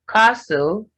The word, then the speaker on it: castle: Then castle, nestle, you have the T silent in STLE.